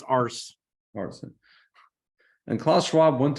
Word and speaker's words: Urs: Pronounce Ars.